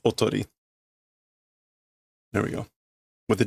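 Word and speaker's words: 囮: That kanji is not pronounced decoy because decoy would be the English word for that. So this is kanji. Which is a decoy, but it's normally pronounced otori.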